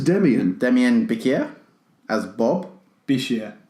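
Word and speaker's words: Demián: That doesn't say Demain, that says Demian.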